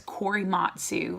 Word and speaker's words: Korematsu: So it looks like Corey, Matt, Sue. Kore, so that's the Corey, then Matt, M-A-T, and then Sue, S-U, okay?